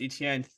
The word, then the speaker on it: Etienne: And then I mean, talking about Travis Etienne, 3-letter word. If you just say Etienne, ETN. That's how I learned how to say his name.